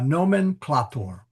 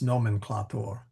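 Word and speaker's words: nomenclātor: The ah is long there. So it's nomenclatur.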